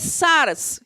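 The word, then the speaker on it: σάρξ: ¿Sabes que la palabra carne en el griego es sarx? Se escribe S-A-R-X y se refiere a una naturaleza animal, entre otras cosas.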